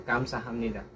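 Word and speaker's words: 감사합니다: Kapag ang last consonant is P at ang kasunod ay letter N, so magiging letter M po ang pagbigkas sa kanya. So, Kamsa, hindi po siya Hapnida. Kamsa, Hamnida.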